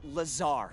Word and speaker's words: Lazar: blazer rangers this is laser blazer a researcher in our rnd department and it's sales liaison it's lazar actually accent on the tsar but yes i'm your